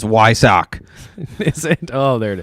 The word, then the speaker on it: Weissach: We do have Vampire Bear 13 on YouTube appreciating that you can pronounce Weissach correctly. It's in irony. Blue is blue, not blau. And it's Weissach.